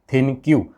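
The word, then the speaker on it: ThinQ: एलजी कहता है, एलजी थिनक्यू। अब थिनक्यू कहो या फिर थिंक कहो, आपके ऊपर है जैसे भी प्रोनाउंस करना है।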